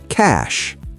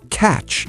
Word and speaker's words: cash: Word number 30, cash. That's easy. Cash. Many learners say catch instead of cash.